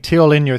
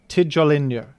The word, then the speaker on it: Tijolinho: tell me things, and someone's told me that Tijolinho is pronounced with the letter J as you're supposed to pronounce it in normal English. As J. Tijolinho.